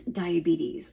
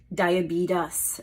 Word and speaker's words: diabetes: it and this is the word is diabetes but what do I often hear well I often hear diabetes as as though there's a t at the end and it's not it's a tees diabetes not diabetes now I also have